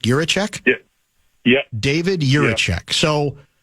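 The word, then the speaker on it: Jiříček: I think I've got the name pronunciation now. It's Juracek, correct? Juracek?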